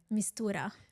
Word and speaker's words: Mistura: Mistura. Mistura. Did I pronounce that correctly?